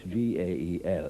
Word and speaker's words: Gael: Take the simple word Gael, spelled G-A-E-L, but pronounced Gael, as in Fine Gael.